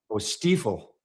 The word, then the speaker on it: Stiefel: Yeah, it is German. Okay, so Stiefel.